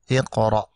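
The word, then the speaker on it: اقرأ: Dan huruf yang ketiga, kalau dia fathah atau kasrah, maka hamzah wasalnya dibaca kasrah. Oleh karena itu, kita membacanya Iqra.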